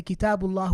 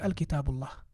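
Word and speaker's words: كتاب الله: But now when we say Kitabullah, we get rid of the noon or the tanween, which basically is the extra noon that we pronounce.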